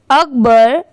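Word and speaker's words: Akbar: अकबर, AK अक, और BAR की प्रोनाउंसिएशन है बर। दोनों मिला देंगे तो हो जाएगा अकबर।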